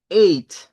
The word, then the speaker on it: eight: A pesar de que aparecen varias letras, en esta palabra la GH no suena. Es muda. Y por eso decimos eight.